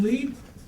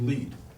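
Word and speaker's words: lede: journalism you say do you have a good lead and this is usually spelled l-e-d-e which is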